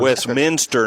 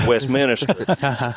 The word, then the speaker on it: Westminster: a nuclear nulear wmin Westminster not Westminister I'm sorry I just